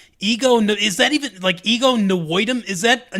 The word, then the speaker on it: Nwodim: Ego Nwodim. Nwodim. Okay. I think. Okay. I think the N is half silent.